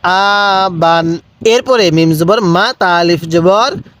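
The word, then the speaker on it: مَتَاعًا: টান দিব তাহলে মা আবান এরপরে মিম জবর মা তা আলিফ জবর তা আইন আলিফ দুই জবর আন মাতা কিভাবে শিখবো মাতা এরপর মিম পেশ মু আলিফ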